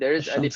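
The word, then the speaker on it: الشمس: There is alif and lam, but you Yeah. don't pronounce the lam, right? You say ash-shams. Mhm. And when you say al-qamar, right? Al-qamar, you Mm. pronounce the lam very explicitly. So, in Arabic, the words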